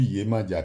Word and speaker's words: Yemanja: Bonsoir chers abonnés, nous allons continuer notre série de vidéos sur Yemandia qui s'écrit Y e M A N J A